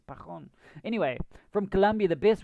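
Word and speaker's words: Pajón: I just about said Pajon because on the television here they would pronounce the name with a J, and I'm like, it's not like that. It's Pajon.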